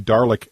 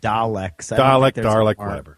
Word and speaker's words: Dalek: Andrew he did the darlick uh darlick bit I like that one that'll make a good bumper I think they're called Daleks okay I don't think it rhymes with garlic is what I'm saying